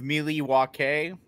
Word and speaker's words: Milwaukee: are coming at you 45 miles north of miliwakay as it is pronounced by the late not late great but